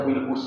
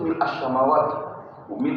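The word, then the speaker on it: ملء: yang kita sering baca mil'us samawati wa mil'ul ardh wa mil'u ma syi'ta min syai'in ba'd. Tapi dalil yang kuat itu mil'as samawati wa mil'al ardi pakai fathah.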